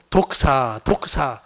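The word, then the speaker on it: δόξα: 이 히브리어는 이 카보드라는 단어고 헬라어는 독사 그렇게 빨리 하면 독사 되는데 독크사에 다크사라고도 발음하기도 하고 독크사라고도 그 영광이에요.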